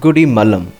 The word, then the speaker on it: Gudimallam: name goody palam and as we pronounce it it is turned into goodie malam keeping the story of